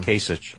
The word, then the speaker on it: Kasich: from Ohio how do you say his name Kasich quich right Kasich my bad